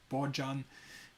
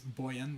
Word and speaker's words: Bojan: know buan buan novakovic you can read his name like bojan but his name is buan he pronouncing like buan he is from Slovenia